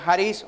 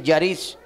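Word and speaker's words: χάρις: gracia de Dios significa viene del griego hariz así se pronuncia haris otros dicen Yaris Qué significa qué dijo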